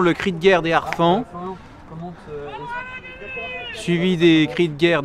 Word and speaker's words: harfangs: Donc à ma droite, les harfans, puisque je crois que je ne dois pas faire la liaison, puisque c'est un H aspiré, me semble-t-il, puisque c'est un mot d'origine franque. Donc je demande à Maître Martinez.